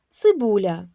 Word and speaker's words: цибуля: Це два слова: буряк, цибуля. Як вимовляємо приголосні перед буквою я? Буряк. Р м'який приголосний. Цибуля ль м'який приголосний.